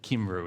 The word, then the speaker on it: Cymru: The Welsh don't call themselves Welsh, they call themselves, I think, Cymru is, I think, how it's pronounced.